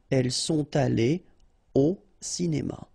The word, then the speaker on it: elles sont allées au cinéma: Exactly the same thing here. Elles sont allées au cinéma. Alright, elles sont allées au cinéma. So, no liaison after your participe passé here.